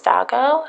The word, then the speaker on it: DOGOnews: to where it says DOGOnews. You can also pronounce this Dogo, however you want to pronounce it.